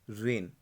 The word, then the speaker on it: reign: अच्छा, 8 पॉइंट बताने से पहले मैं आपको बताऊंगा कि वर्ड्स के साथ आप उसकी प्रोनाउंसिएशन पे भी ध्यान दीजिए। जैसे इसकी क्या है? रेन, RAIN, REIGN।